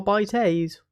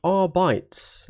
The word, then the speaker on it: Arbites: the pronunciation guide of the arbites are by Tays or R bytes let's just get it out of the way first it is not our bites um yep there you